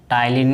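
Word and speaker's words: ptyalin: इसमें दोस्तों टाइलिन में पी साइलेंट होता है।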